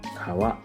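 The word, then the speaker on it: 川: Japanese reading or kunyami river is pronounced as Kawa in man yoga this kanji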